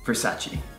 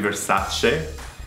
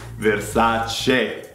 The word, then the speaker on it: Versace: Versace. This is the most commonly mispronounced fashion brand from Italy. It's actually Versace. Because it ends with an E, we covered this before. Final E is pronounced E. Versace.